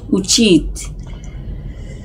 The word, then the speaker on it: উচিত: উচিত এই তটা ঠিক করে উচ্চারণ করতে হবে।